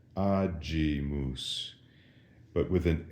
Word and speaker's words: agimus: When there was an I following the G in ecclesiastical Latin, that softened the G. We said agimus.